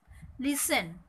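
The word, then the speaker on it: listen: লিসেন শব্দটা খেয়াল করো, এখানে টি এর উচ্চারণ হবে না, লিসেন।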